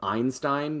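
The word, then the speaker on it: Ayn-Stayn: corporation in the world, which is called Einstein, but it's spelled like AYN hyphen STAYN.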